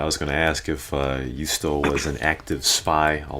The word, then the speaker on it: juusto: Wait, Rashawn, you say Juusto? Yeah, Juusto. Yeah. Yes. Yes. I think that's how you say it in Finnish. You know, you say the J as, you know, like there's a NHL player named UC Jokinen.